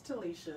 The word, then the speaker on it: Talisha: It's Talisha.